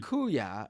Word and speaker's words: kuya: as my sister also it's pronounced kuya brother in Tagalog I I said kuya